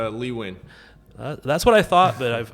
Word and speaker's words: Lee Nguyen: name because I if I if if I mispronounce it I will feel terrible all good yes it's Lee win that's what I thought but I've I've heard